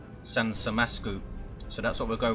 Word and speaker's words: 산삼맛쿠우: nothing too mental and they said it should be pronounced sansam masu so that's what we'll